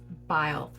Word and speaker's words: Byl: I did look her up on YouTube, where she is speaking at an event to figure out how she pronounces her last name, and it's Byl.